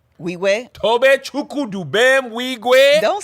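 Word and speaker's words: Nwigwe: And how do you pronounce Toby's last name? Wigwe. Weegwe?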